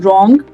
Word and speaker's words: wrong: and R, the letter W stays silent. तो जैसे कि ये वर्ड्स WR से बिगिन हो रहे हैं तो इनमें मैं इनको राइट नहीं बोलूंगी, मैं इनको wrong नहीं बोलूंगी. I'll say right, I'll pronounce it as wrong, then wrist and then wrap.